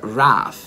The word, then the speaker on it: wrath: Ira si scrive W-R-I-T-H, è giusto? Sì. E si pronuncia Wrath.